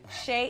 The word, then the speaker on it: Shea: sha in Yoli and sha is spelled s h EA just like shea butter shop Shay in Yoli and Yoli